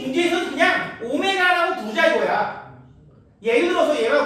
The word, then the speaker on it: 오메가: 오메가. 이렇게. W 아닙니다. 오메가입니다. W는 이렇게 써요. 오메가는 이렇게 쓰는 거고 조금 달라요. 학교 가면 분명히 이걸 더블유라고 읽는 친구들이 있을 거야.